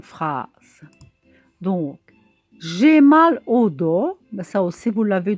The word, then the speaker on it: dos: plus comment ça s'écrit on n'entend pas le s mais ici c'est le dos on écrit le dos